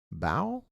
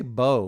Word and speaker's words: bough: I always want to say bow, like dough. It's spelled like dough.